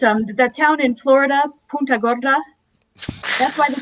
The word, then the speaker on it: Punta Gorda: that town in florida punta gorda that's why they pronounced that's why they pronounce it punta gorda they anglicize it because if you mispronounce it and say puta gorda you just said fat horse so mm-hmm yeah yeah